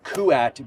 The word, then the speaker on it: Kuat: tuned all right guys I'm here in the kuat booth which I have been reminded three times